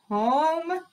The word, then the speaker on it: home: Home, circle the vowel, slash the silent E, and keep reading it, okay?